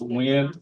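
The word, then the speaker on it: Nguyen: have a Vietnamese um last name pronounced wind but it's spelled g n y yeah yeah I've gotten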